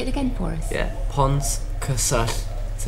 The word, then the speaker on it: Pontcysyllte: So instead, it'd be much easier to say L, so Pontcysyllte.